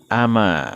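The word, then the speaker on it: أما: Tail almadrosati al-yauma nya ama ya di sini bacanya tanpa tasjid ya ama Ayah kalau dibaca amnah beda artinya ya kalo ama ini Tidakkah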